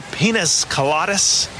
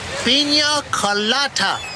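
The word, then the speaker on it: piña colada: Carlos, could you bring me another pinas coladas? It's pronounced pina colada.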